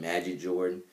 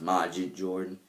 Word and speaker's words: Majid Jordan: Even though I keep saying Magic Jordan, but it's pronounced Majid Jordan. Like Ma, not Mad.